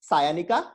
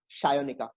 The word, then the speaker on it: Sayanika: So the name, if you pronounce it, it is Sayonika, but a typical Bengali name will always be pronounced differently from what it appears from the spelling. So it's not Sayonika, it's Shayonika.